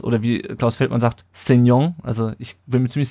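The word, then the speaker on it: Sessegnon: Minute macht dann Cessignon das, oder wie Klaus Feldmann sagt, Cessignon, also ich bin mir ziemlich sicher, dass die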